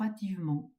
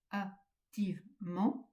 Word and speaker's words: activement: ne fait pas attention, on aurait tendance à dire s'ouvre attivement. Alors si vous dites s'ouvre attivement, il va vous manquer des pieds. S'ouvre activement, vous avez quatre pieds. Mais il faut bien appuyer sur le e de souvre et de activement. Je répète souvre. activement. Vous avez bien six pieds alors que sinon s'ouvre attivement. Vous n'en avez que quatre ou cinq.